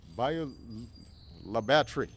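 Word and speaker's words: Bayou La Batre: Bayou Bayou La Batterie.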